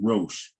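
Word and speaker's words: ראש: And then you see that it comes from a parent root, Rosh, or Rosh, but it's really pronounced Rosh.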